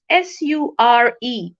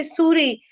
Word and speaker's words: sure: sound is sure similarly another interesting example is s-u-r-e we pronounce it as sure rather than asure or uh we don't say Suri we say sure whereas there is no s